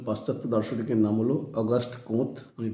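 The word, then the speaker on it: Comte: এরকম দুজন পাশ্চাত্য দার্শনিকের নাম হলো অগাস্ট কোঁৎ, আমি বানানটা বলে নিই, গয়াকার দন্তস্বয়ে ট, অগাস্ট কোঁৎ,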